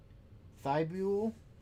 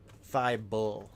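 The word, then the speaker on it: Thybulle: Ruy Hatchima Darius Garland RJ Barrett purple fibula I don't know why I didn't pronounce it correctly naturally Thy bull.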